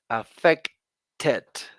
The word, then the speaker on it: affected: it's a regular verb the way you are going to pronounce it in the past is affected there's one more syllable so I want you